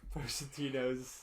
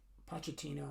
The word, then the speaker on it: Pochettino: Don't know where Pochettino's.